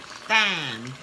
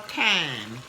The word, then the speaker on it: thyme: And I'm gonna put thyme in there. Thyme. brother. I want to say it like it's spelled thyme, but it's called thyme.